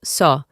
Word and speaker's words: saw: En el pasado simple es saw. Reemplazamos a W por una O. Saw.